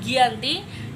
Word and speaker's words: Giyanti: ada 13 Februari 1755 nama Giyanti sendiri diambil dari lokasi penandatanganan perjanjian yaitu Desa Janti pada pelafalan Belanda ia tersebut sebagai Gianti dan secara tertulis ia terbaca sebagai Giyanti tempat tersebut dikenal sebagai